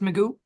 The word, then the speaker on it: Magoo: You said your last name is pronounced Magoo. Yes, ma'am.